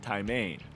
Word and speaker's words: taimen: Doug Hayes has hooked his first taimen, or more properly pronounced, taimen, which definitely is something to really get excited about.